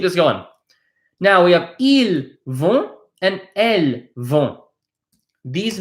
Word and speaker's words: ils: Now you might be wondering, why is there an il and why is there an elle? What the heck is the difference? Let me explain. Il, pay attention, we don't pronounce the S.